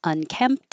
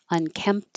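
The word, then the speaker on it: unkempt: You won't hear that P or the T because your lips close for the M and that's it. But if there's a vowel after it, then the T will connect.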